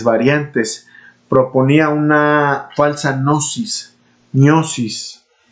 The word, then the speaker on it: gnosis: El gnosticismo, en sus múltiples variantes, proponía una falsa gnosis gnosis, sería la pronunciación correcta, sí, una gnosis, porque pues estamos hablando en latín, o un conocimiento esotérico reservado para una élite de iniciados, los neumáticos o espirituales.